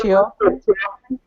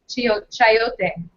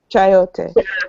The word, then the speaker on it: chayote: You pronounce it chio? Chayote. Chayote.